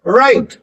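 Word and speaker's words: write: Please राइट please राइट। डब्ल्यू की कोई जरूरत ही नहीं है साउंड करने की।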